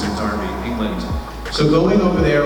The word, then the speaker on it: Derby: We shot it in Derby, it's spelled Derby, but over there they pronounce it Derby, England.